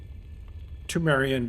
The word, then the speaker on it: Pthumerian: Cursed Pthumerian Defilement. Okay, that's how they say it.